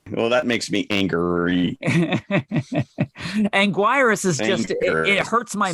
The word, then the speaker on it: Anguirus: into this right now is it Angus or Anguirus well it's spelled Anguirus but I always used to say Angus well that makes me angry Anguirus is just it hurts